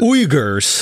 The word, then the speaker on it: Uyghurs: How do you pronounce it? Uyghurs.